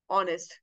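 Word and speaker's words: honest: But then जहां पे H silent होगा, कुछ वर्ड्स ऐसे होंगे जहां पे एच साइलेंट होगा, for example are, honorary, here, ऑनेस्ट, उनके साथ आप क्या यूज करोगे, आन यूज करोगे। ठीक है, क्योंकि किसकी तरह साउंड कर रहे हैं, वॉवल की तरह साउंड कर रहे हैं।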